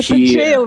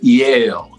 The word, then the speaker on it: Yale: also teaching at the yeah and him in jail right not jail i used to pronounce it yeah i went to jail what